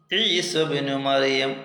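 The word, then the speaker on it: عيسى ابن مريم: മറിയം എന്നാണ് ഉള്ളത് അല്ലേ നമ്മൾ കൂട്ടി ഓതുമ്പോൾ ഈസബ്നു മറിയം ഒന്നായി ഓതി ഒറ്റക്കാകുമ്പോൾ ഇബ്നു മറിയം അപ്പൊ അങ്ങനെ കൂട്ടി ഓതുമ്പോൾ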